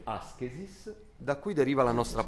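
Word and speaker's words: ἄσκησις: si legge askesis, da cui deriva la nostra parola ascesi, elevazione, rinuncia, eccetera, ma che in origine voleva dire, preso dalla ginnastica, allenamento.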